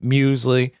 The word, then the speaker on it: Muesli: like Alec and Muesli, and that's how you pronounce it. I looked it up, Muesli.